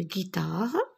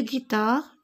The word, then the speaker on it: guitare: Devant les voyelles E et I, on écrit G suivi de la lettre U pour obtenir le son G. Une guitare, sinon je prononce J.